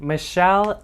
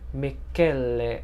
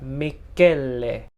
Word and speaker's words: Michele: is the Hoya CV Michele MB 1255. So I made a mistake, y'all. So it's not pronounced Michele. It's apparently Italian, so it's pronounced Michele, I think.